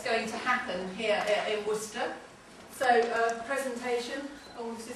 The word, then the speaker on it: Worcester: and welcome to Worcester that's how you pronounce it Worcester not warchester um I'm Sue and